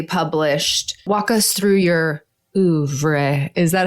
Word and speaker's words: oeuvre: Walk us through your oeuvre.